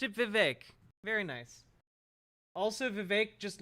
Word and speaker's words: Vivek: an entrepreneur oh look at that okay Pac-Man pronounced it Vivek very nice also Vivek just looks like he's